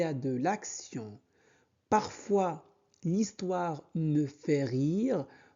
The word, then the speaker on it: l'action: T-I-O-N se prononce sion. Donc l'action.